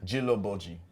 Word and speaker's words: Djilobodji: I got the proper pronunciation from Amadou. Djilobodji or Djilobodji? Djilobodji.